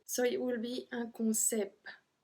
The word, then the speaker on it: concept: So we're not supposed to pronounce the T, so it will be un concept. But we actually pronounce the T at the end on this one, so un concept.